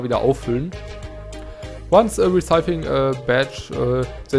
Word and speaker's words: Badge: There's badges, so you gotta equip them. Cool. Spring Jump M. You can now access the badge menu. Badge wird das ausgesprochen, nicht Badge.